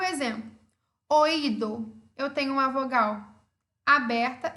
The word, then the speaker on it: oído: uma vogal forte, ela é uma vogal tônica. Por isso, o acento cai sobre ela, sobre essa vogal fechada, e temos o hiato. Oído, oído, oído.